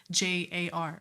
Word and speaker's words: Hajar: Yeah, it's a little, it's kind of, if you don't know how to pronounce it, it's literally Hajar.